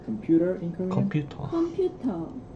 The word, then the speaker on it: 컴퓨터: 컴퓨터. 컴퓨터. Again, there is no R sound in Korean. So in Korean you say computer without the R at the end. 컴퓨터.